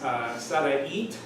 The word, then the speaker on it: Sarait: But her name is Sarait, that with a T at the end, S-A-R-A-I-T, Martinez, and I would like her to take it away for a few minutes.